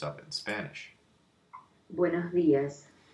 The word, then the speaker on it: buenos días: There's 9 pronunciations of it in Spanish. Buenos días.